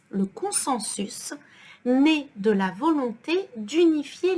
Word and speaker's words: consensus: Puis, le consensus, so here we pronounce the S, le consensus, né de la volonté d'unifier les traditions locales ou ijma.